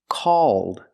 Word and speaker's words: called: So if I change call with ed d, it's pronounced called.